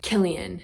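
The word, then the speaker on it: Cillian: tweet of her and Killian which is spelled with a c but pronounced with a K I'm pretty sure Killian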